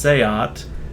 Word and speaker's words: SEAT: And then Seat is actually pronounced Seat.